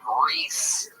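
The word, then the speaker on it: Rhys: Yeah, but you get mad every time somebody doesn't call that Reese, even though it literally isn't spelled like the name Reese at all. It's Welsh. You know where Wales is?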